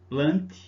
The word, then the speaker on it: Plantae: Vamos para mais uma aula agora do reino plant, né? Se escreve plantae, mas se fala plant, ou metáfita, tá bom?